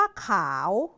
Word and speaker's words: ข่าว: ว่า ขาว นะ คะ เมื่อ ใส่ รูป วรรณยุกต์ เอก ต้อง จะ กลาย เป็น คำ ว่า ข่าว ขาว ข่าว แล้ว ถ้า ใส่ รูป